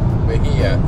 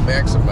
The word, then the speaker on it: Mexia: So we're on our way to, how do you say it? Maxima. Mexia. M-E-X-I-A. Sounds like Maxima to me. Well, but Mexia, whatever.